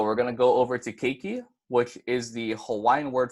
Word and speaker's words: keiki: word now so we're gonna go over to keiki which is the Hawaiian word for child and